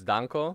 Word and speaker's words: Danko: We got our new friend, Danko. Is that just, that's just your name? Like, in Bulgarian it sounds a little different. You know, the A is different. I mean, in Danko. Bulgaria? Yeah, it's Danko.